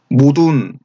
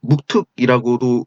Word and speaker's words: 묵돌: 이게 발음이 모둔, 원래 발음은 모둔인데 한학자들은 묵특이라고도 읽고 묵돌이라고 합니다. 저는 여기서 묵돌이라고 발음하겠습니다.